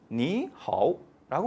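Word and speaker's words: 你好: 너무 그러니까 요것을 물 흐르듯이 만들기 위해서, 부드럽게 만들기 위해서 앞에 삼성일 경우는 앞에 삼성을 이성으로 발음해 준다라는 하나의 규칙을 만든 거예요, 얘네들이. 그래서 니하오라고 발음해 줍니다. 자연스럽죠? 니하오.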